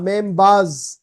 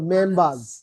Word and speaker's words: members: family members members না members এসের উচ্চারণ হবে z এর মতো members না এসের উচ্চারণটা z